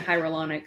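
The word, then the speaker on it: hyaluronic: I had to practice saying hyrolonic like 20,000 times before I could say it.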